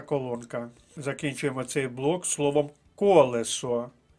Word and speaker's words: колесо: закінчуємо цей блок словом колесо перший склад колесо перший склад перша